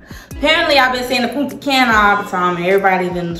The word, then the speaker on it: Punta Cana: in Punta Cana apparently I've been seeing the Punta Cana all the time everybody's been trying to correct